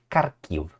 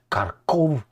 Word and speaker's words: Kharkiv: I'm saying Kharkiv, as the Ukrainians say, and Kharkov, as the Russians say it.